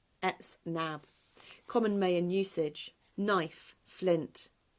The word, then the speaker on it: Etznab: Pronunciation, ETZNAB, ETZNAB.